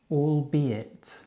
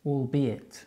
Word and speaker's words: albeit: Let's check the pronunciation again. Albeit. Albeit.